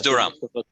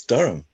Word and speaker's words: Durham: We pronounce as Durham. Durham, okay. Sorry about that. Durham, North Carolina. He pronounced it correctly, actually. It's Durham.